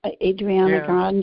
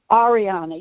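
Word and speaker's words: Ariana Grande: Adriana Grande? Am I saying it right? Ariana.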